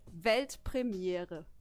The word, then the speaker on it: Weltpremiere: It's actually Weltpremiere. Pretty similar, right? I think I could do that. Yeah, do it. Weltpremiere.